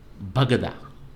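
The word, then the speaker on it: Baghdad: particular episode but there was a pronunciation of Bagdad given as Iraqis pronounce it and do you know what it was bagada you know so how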